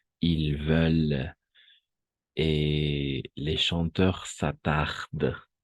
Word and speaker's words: s'attardent: Et les chanteurs s'attardent.